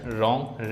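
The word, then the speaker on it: wrong: Silent W जैसे right रॉन्ग rest. यहां पे जो ये डब्ल्यू है ये साइलेंट है। साइलेंट है। साइलेंट है। ठीक? जब शुरुआत में डब्ल्यू आर से होती है तो डब्ल्यू का उच्चारण नहीं होता है।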